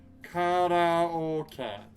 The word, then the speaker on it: karaoke: is a good one because it's actually kara orca or o and then k k e so it's not karaoke it's karaoke so pro tip if